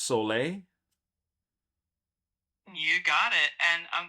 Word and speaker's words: Sol: And I believe Quinn, it's even though it's S O L, it's pronounced sole.